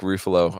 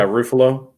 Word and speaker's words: Ruffalo: you say ruffalo yeah how do you say his last name how did you say his last name ruffalo yeah ruffalo ruffle yeah roofalo even though it rhymes with buffalo okay so we used